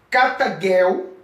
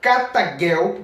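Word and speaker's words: καταργέω: testamento grego para você vai ver a palavra cata Girl e é pronunciada destruir o aniquilou vindo do original grego é pronunciada cata Girl que o jeito Tem sempre o som cultural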